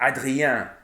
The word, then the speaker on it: Adrien: For example, the en, if you have en in French is pronounced en most of the time. But when it comes after an I or a Y, it's un, like Adrien or végétarien.